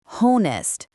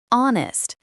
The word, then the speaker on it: honest: The H at the beginning is silent. We don't say honest. We say honest.